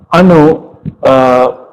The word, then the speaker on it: anu: and it is in Sanskrit it sounds, let me see, it's like the na in 9. So it's how you pronounce na in 9, the first capital, the N in 9. That's how you pronounce.